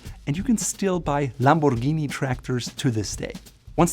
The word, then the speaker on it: Lamborghini: It is not Lamborghini or Lamborghini, it is Lamborghini. Funny story, the brand started as a manufacturer of tractors, and you can still buy Lamborghini tractors to this day.